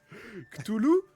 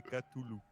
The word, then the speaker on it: Cthulhu: Cthulhu ou Cthulhu?